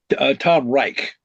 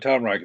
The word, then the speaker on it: Tom Reich: Tom Reich. right? And Reich, Rich, or R. I'm sorry, yes, R Like the Third E Reich, I. Reich, or what? Yes, it's like the Third Reich. Tom Reich.